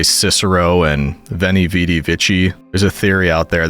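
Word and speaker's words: Veni, vidi, vici: Like we say Cicero and Veni Vidi Vici. There's a theory out there that it's actually different pronunciation. Like it would actually be Cicero. And V's would be W, so it'd be Weni Weedy Wiki.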